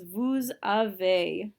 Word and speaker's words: vous avez: The correct pronunciation is vous avez. So Z is not a careful letter. It's not avez. That's not a possibility.